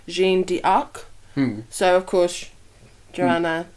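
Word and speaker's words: Jeanne d'Arc: is actually based from the French pronunciation of Jonah arc which is gene D arc hmm so of course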